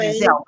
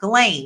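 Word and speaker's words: Ghislaine: I want to keep calling her Jazelle, but it's not Jazelle. Galain.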